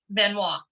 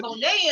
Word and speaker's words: Benoit: It took me 2 years to pronounce his name right, because I'm looking at it and I'm saying it phonetically, you know, with what the letters I'm seeing in front of me, and I don't see Benoit in there. I saw Bonet in there. There you go.